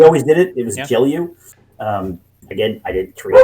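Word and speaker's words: Gelu: question like relating to how is the correct pronunciation of the It's It's G'elliu. G'elliu? Well, that's how we always did it. It was G'elliu.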